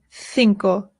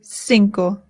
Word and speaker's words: cinco: In Spain, they say cinco. In Latin America, they say cinco. Both are correct, whichever you prefer.